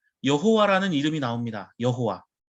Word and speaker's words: 여호와: 이야기합니다 자 구약성경의 는 여호와라는 이름이 나옵니다 여호와 자 히브리어로 자음 자음 으로만 기록되어 있습니다 그래서 요드 해 와 우회를 합쳐서 여호와 라고 발음은 하지만 이 여호와라는 발음도 후대 굉장히 오랜 세월이 흘러서 만들어진 것입니다 자 히브리어는